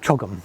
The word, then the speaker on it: CHOGM: So chief executive of the Commonwealth Summit unit um and the CHOGM it's how do how do you say we call it Chum Chum right?